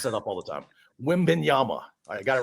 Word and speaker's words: Wembanyama: Wembanyama. What did I say? You said it with an N at the end. Yeah, I mess that up all the time. Wembanyama.